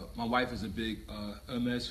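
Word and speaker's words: Hermès: One thing that inspired us was I did happen to, my wife is a big Hermes fan, or Hermes, how they pronounce it.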